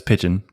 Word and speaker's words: Pyjion: name um but yeah it's pigeon like the bird yeah okay that's cool